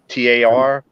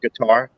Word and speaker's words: Qatar: It's like QUATAR, but I think it's Qatar. pronounced Qatar. Yeah, Qatar.